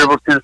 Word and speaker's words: Sevierville: How do you pronounce it? Sevierville, Tennessee, near Knoxville, Sevierville, Tennessee, near Gatlinburg and Pigeon Forge and all that.